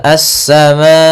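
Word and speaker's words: السماء: Kemudian pada lafal assama di sini asa ada alif lam maaf di sini salah menulis yaitu bukan qamariah tapi dia alif lam syamsiyah yaitu adanya alif lam yang ditulis dan dia tidak dibaca langsung ke sinnya.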